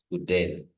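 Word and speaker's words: οὐδέν: It is the omicron and oops just like soup. Okay. letter soup. So this becomes uden. So I pronounce the omicron and the option as a single letter.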